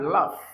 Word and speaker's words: laugh: So here we have laugh. Laugh. Laugh. There's no way you can pronounce the gh with a normal pronunciation which is g or he.